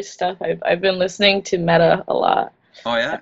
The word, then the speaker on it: Meta: I've been listening to Meta a lot. Oh, yeah? How do you spell it? M-E-T-A? M-E-T-A, yeah. Okay. Like metaphor or metaphysics.